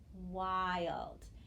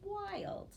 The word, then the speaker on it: wild: i l d phonogram wild and again you might say gosh that looks like a closed syllable but i know that phonogram changes that vowel a little bit and that's why it says wild okay let's try this